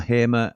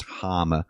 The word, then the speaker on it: Hamer: Trace says, "PS, I asked Hamer if if it's Harmer or Hamer and he's pronounced it as Harmer.